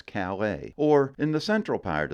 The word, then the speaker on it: Calais: correctly over there on the Eastern side is callus however in France that's Calais or in the central